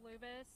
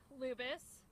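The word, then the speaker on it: Lubas: comments and we'll turn it over to General Lubis. Uh, good afternoon, ladies and gentlemen. My name is Lieutenant Colonel Angel Tomco. That's spelled A N G E L.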